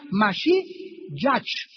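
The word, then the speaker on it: משיח: La palabra mesías en el hebreo es la palabra masí. Se escribe m a s h i y a c h. Se pronuncia mashi ych en castellano y significa Cristo.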